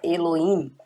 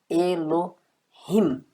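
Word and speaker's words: אלהים: Inclusive no hebraico moderno, às vezes ele nem é pronunciado como na palavra Elohim, tá? Mas claro que você pode pronunciar claramente Elohim.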